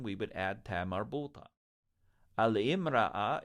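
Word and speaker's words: المرأة: Al-imra'a is a woman. It's often pronounced al-mar'a.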